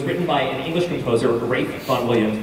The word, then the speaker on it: Rafe: It was written by an English composer, Rafe Vaughan Williams. That's how you say his name. It's Rafe, not Ralph.